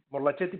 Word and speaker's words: Morlachetti: Está bien pronunciado Morlachetti. Morlachetti, pero Morlachetti como buen apellido italiano.